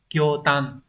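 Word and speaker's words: 驚嘆: kinh và chữ thán như vậy đọc là kotan đúng đây sẽ là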